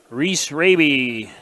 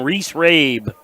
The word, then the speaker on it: Reese Rabe: Reese Raby. Milbank goes up against Breck Evans from Del Rapids. I just asked an expert in the crowd, and I've been pronouncing it wrong. Reese Rabe.